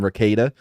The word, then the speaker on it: Rekieta: I called him Ricada. His name is Ricada. No, I thought it's something else. No, it's Ricada.